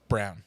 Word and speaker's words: Braun: series Ron Brown Braun Brown that's that that's that white boy Brown is pronounced Brown it looks like Brawn but it's well because